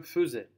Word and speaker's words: faisais: Vous avez vu, ça s'écrit je faisais, mais on prononce je faisais. On fait comme si à la place du AI on avait E.